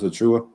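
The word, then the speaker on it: Achiuwa: Precious Achua.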